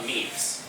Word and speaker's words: meme: In English it isn't pronounced meme, it isn't pronounced, there actually is a French word named meme, but it's intended to rhyme with the word gene.